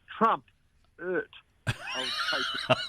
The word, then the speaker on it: Trumpet of Patriots: Well, you've got your pronunciation has to be right. It's Trumpet of Patriots, right? It's just like Mrs. Bucket on the movie. She says bouquet.